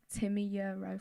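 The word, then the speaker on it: Timi Yuro: Have you ever heard of someone called Timmy Euro? No. In life. No. I know her name, but I don't know. I would say she is, on the whole, my favourite singer. What's her name? Timmy Euro.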